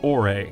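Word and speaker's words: Orre: By the way, we know some fans pronounce it Or, but the only audible reference for the region's pronunciation is a TV commercial where they pronounce it Ore, so we're gonna follow their lead.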